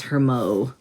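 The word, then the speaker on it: Hermux: that's cool but um i always say his name is hermo because it's h-e-r-m-u-x so i'm just kind of pretending it's like a french name with the silent x hermo so anyway he's a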